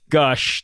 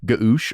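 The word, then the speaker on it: g'Ush: capital u s h like Goose or something like that I was like it's gush obviously and then my my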